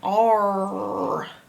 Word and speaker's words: are: All three letters are making one sound, R.